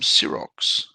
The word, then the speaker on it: Sirox: We have a question from Sirox, or Sir Ox, if you want to pronounce it properly.